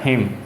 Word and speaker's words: hymn: ए ठीक है fire हिम ठीक है एवा ए क्या लिखा हुआ है पहले इसको देख लो एवा ए का मतलब यहां पर एन साइलेंट है एन क्या है साइलेंट